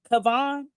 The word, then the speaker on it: Cavan: Cavan, that's how you say his name.